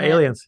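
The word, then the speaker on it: 8LIENS: Yeah, Aliens. Yeah, you can just say Aliens. Yeah. It has an 8, so it's 8 LIENS.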